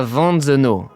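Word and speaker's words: Wantzenau: Benjamin qui nous dit le W se prononce V. Ok, on a un Benjamin qui est probablement alsacien, ou en tout cas qui est connaisseur de la culture alsacienne. Donc, attends, W se prononce V. Donc, la Vanzeno, ok.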